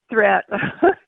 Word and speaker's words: Threet: And it's Threat, not Threet. Threat. But I'll take it, whatever.